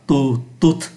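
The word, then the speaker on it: toutes: nhiều là tu t như vậy là chúng ta thấy phát âm là tu t tu t tính từ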